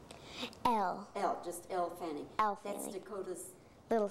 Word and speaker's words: Elle Fanning: I didn't ask you this, but isn't Ellie, is it pronounced Ellie Fanning? Elle. Just Elle Fanning.